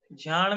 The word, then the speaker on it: झाण: झाण में झा का उच्चारण कैसे करें? देखिए, बोलेंगे हल्का सा जा, लेकिन वो सुना ही नहीं देगा। झाण, जान, अब आपको समझ में नहीं आएगा कैसे बोले, जान नहीं बोल, उच्चारण नहीं कर पाओगे, बस हल्का सा मुंह से निकलेगा आधा जा, वो आपको समझ में